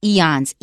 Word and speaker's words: eons: And another interesting word is eons. You've got 2 vowels in there, 2 consonants, very short, 2 syllables, eons.